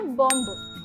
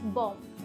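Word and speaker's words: bomb: इट्स नॉट बॉम्ब. बॉम्ब में जो last वाला बी है वो साइलेंट होता है. सो इट्स बॉम्ब. It's just बॉम्ब. Okay, BOM जैसा आपको प्रोनाउंस करना है.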